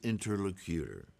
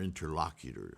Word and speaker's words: interlocutor: Shakimuni is teaching still to the capacity of his interlocutor or interlocutor, however you prefer to pronounce it.